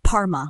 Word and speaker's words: parma: Next we have parma, pronounced parma, which is short for chicken parmigiana, a super popular pub meal. So you'd say the parma at this pub is legendary, and think of it like par as in golf, then just add ma.